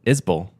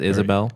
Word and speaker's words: Isbell: you said it right how do you say his last name was it not that it's you say it you say it is bull yeah yeah Isabel people say sometimes Isabelle Isbell Isbell is bail Isbell Jason Isbell